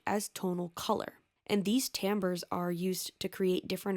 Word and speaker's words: timbre: here's a plot twist this word is pronounced tamber tamber ber refers to